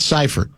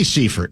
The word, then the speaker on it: Seifert: It's not cipher. It spells like cipher. Do you you know how to spell it? Um it's got a E and a I together. But the E is first, is it not? It is. It should be Seford.